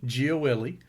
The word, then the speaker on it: Gioeli: That was such a beautiful pronunciation of my last name. It almost brought me to an Italian restaurant to go have a pasta dish. That's how well you said that, bro. That was perfect, man.